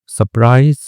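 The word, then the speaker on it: surprise: सरप्राइज ठीक है? सरप्राइज भी पढ़ते हैं और आर साइलेंट भी करके पढ़ते हैं।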